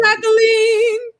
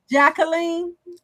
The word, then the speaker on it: Jacqueline: Jacqueline, you playing. Jacqueline. No, I it's the French pronunciation which is the correct pronunciation of my name, but I say Jacqueline.